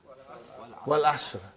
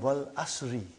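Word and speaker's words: وَالْعَصْرِ: Wal Asr. Have you ever noted down what is written there? It's called Wal Asri.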